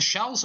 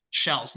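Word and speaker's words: Scheels: being played in the shells Arena it's spelled s h s h e e l s Arena shells not Shields not uh nutshells the shells Arena nice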